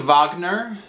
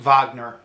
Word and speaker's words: Wagner: from today is being vogner the triumph of the will by Simon Callow it's you can see it's spelled like Wagner but I believe it's pronounced vogner right so why am